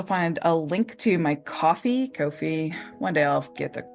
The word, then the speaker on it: Ko-fi: You'll also find a link to my Ko-fi. One day I'll get the pronunciation. You'll have to tell us first. Right? I know it's supposed to be like coffee, but it doesn't read that way.